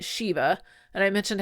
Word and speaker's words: shiva: we talked about Shiva, which is pronounced Shiva according to Rabbi Jason, but in the show they call it Shiva.